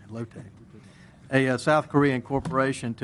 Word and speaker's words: Lotte: president just real briefly axial is planning a joint venture with Lotte chemical I found that that's correct pronounced locate a South Korean corporation to expand on a